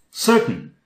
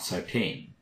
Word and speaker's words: certain: curtain on the windows certain certain certain not Satine certain certainly the ocean